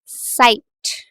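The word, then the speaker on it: Zeit: which have the example साइट इट्स नॉट ज़ाइट इट्स नॉट Z right you have learn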